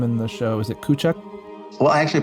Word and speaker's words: Kuchuck: Now, when I say your name in the show, is it Kuchuck? Well, I actually pronounce it Smith, but if you're going to go by the spelling, yeah, Kuchuck.